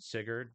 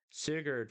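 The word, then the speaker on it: Sigurd: Uh this in particular instance in the beginning with the dragon has to do with Sigard because uh he was like one of the first as guardian warriors.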